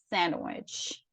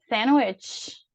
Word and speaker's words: sandwich: Então, a gente não pronuncia. E é o caso de sandwich, sandwich, ok?